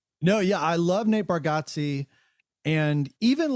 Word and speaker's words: Bargatze: No, Bargatze, you got it.